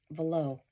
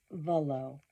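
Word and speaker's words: Vuolo: It's Volo. Volo. Katie, do you watch the show? You can hear it. If you read it, you may not know how to pronounce it. There's a U in there, but if you watch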